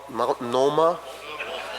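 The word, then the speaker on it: Multnomah: a it's a tough word for me to pronounce maloma Athletic Club is that how you say it in in Portland the Mount Mount Noma that's the one the Athletic Club I've made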